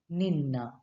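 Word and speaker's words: ನಿನ್ನ: Now, my in Kannada is called as nanna, nanna, and your it's called as ninna or nimma.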